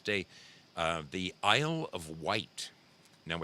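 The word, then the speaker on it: Wight: uh the Isle of white now it's spelled wri I G HT but it is pronounced white the Isle of white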